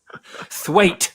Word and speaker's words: Thwaite: was richard twatt thwaite it's weight it's what yeah it's pronounced wait damn it oh god